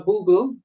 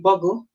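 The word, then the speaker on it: Boggle: Some of you guys are really good at those games, Scrabble and what we call Boogle, but it's really Buggle.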